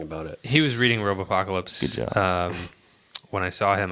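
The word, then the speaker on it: Robopocalypse: to and right filming Robo apocalypse am I saying that right yeah Robo apocalypse yeah it sounds like it's got too many syllables yeah he is like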